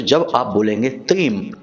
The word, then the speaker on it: त्रीम: तो अब ध्यान से सुनिए, इस मंत्र का उच्चारण हमें करना है त्रीम। जी हाँ मित्रों, त्रीम। यह मंत्र आपको मोबाइल की स्क्रीन पर भी दिखाई दे रहा है, त्रीम।